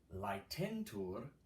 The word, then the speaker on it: Laetentur: Laetentur, I know it's AE, but pronounce it like telling a lie. Lie.